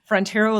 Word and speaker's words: Frontiero: My name is spelled Frontiero, like the great frontier with an O on the end. That's how I always tell people to remember how to say it.